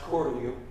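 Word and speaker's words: Cortelyou: another one yes this is cellia Road actually pronounced calu those of you know brookly named after jacqu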